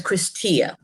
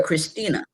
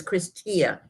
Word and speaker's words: Christia: lady calls her by her name is christia the lady calls her christina so she told us she she corrected her she said it's christia she said no sweetie